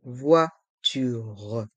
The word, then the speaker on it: voiture: la voiture la voiture ici les voyelles o et i font le son VO vois et le R de voiture reste en suspens la voiture la voiture un voyageur